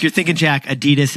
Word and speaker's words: Adidas: Like you're thinking, Jack, Adidas is really Adidas over in Germany.